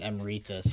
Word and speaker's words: emeritus: So it has to be emeritus, right? Like it's the whole Latin thing.